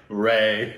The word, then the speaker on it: Ray: Ray yeah right they said Ry and then they're like Ray yeah well he's the only guy I've ever heard calling it Ry yeah so maybe he's